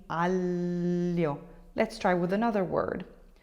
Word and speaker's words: aglio: Aglio. aglio, aglio. So you're saying an L sound before the terrible y sound.